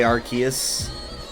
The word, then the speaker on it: Arceus: I guess I sometimes say Arceus.